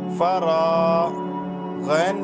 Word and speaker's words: فراغ: کے ساتھ الف ہے، تو را کو کھینچیں گے اور فا کو نہیں کھینچیں گے اور غین کو بھی نہیں کھینچیں گے. کیسے ہوگا ہجے؟ فا زبر فا، را الف زبر را، فرا غین زبر غ، فراغ.